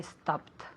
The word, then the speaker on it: stopped: Yesterday I stopped. Very good pronunciation con una T, okay?